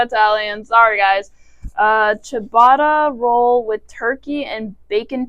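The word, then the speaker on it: ciabatta: we're gonna research or sabata it's sound it's pronounced chabata but it's not spelled with an H so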